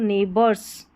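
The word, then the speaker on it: neighbours: ये पढ़ना आपने सीख लिया है, इसको नेबर्स, ठीक है। यहाँ पर GH जो है साइलेंट रहेगा जब भी नेबर की स्पेलिंग आएगी, चाहे नेबरहुड हो या नेबर हो।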